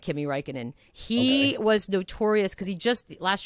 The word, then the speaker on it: Räikkönen: Räikkönen. You go. Räikkönen.